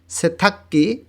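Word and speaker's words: 세탁기: গিয়ক বাচ্ছিমের পরে গিয়ক আসলে দুইটারই কয় ক উচ্চারণ হবে, এখানে উচ্চারণ হবে সেথাক্কি ওয়াশিং মেশিন।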